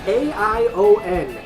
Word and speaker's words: Aion: is a game called a i o n aion pronounced and apparently you can